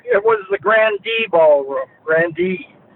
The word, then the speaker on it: Grande: Grandee. Uh that's the way we pronounced it.